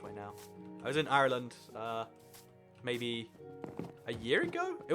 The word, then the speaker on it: Ireland: I was in Ireland, Ireland. There's a funny difference between how like most people say Ireland and like how Irish people say it. There's like a real hard emphasis on the R there.